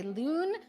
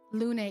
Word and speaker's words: Lune: Someone says that it's supposed to say loon, but it's actually pronounced lune, so close to him.